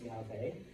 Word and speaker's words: Yahweh: Now, remember those ancient alphabets have no vowels. Okay, so it's pronounced Yahweh. All right? In English, it's transliterated into the word Jehovah.